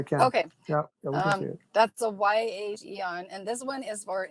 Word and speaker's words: Aeon: guess with the nirvana yeah and that's the eon um it's spelled like a e is i have a